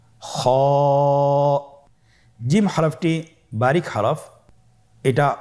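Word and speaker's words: خاء: খ হরফটির মাখরাজ হলো কন্ঠনালীর শেষ ভাগ হতে উচ্চারণ করতে হয়। কন্ঠনালীর শেষ ভাগ। আপনারা আমার সাথে বলুন খ আবার বলুন খ মাশআল্লাহ।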